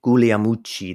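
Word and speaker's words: Guglielmucci: was a guy named danny gulia muchi that's how you say it properly apparently i heard him once correct us but he was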